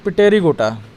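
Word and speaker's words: Pterygota: इसके बाद आता है पिटेरिगोटा, इसमें पी साइलेंट होता है।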